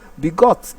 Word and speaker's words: begot: Begot is verb, belongs to verb class. Then it takes its stress on the second syllable.